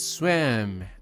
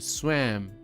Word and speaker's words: swam: So the pronunciation here is swam. Como con una E grande. Swam.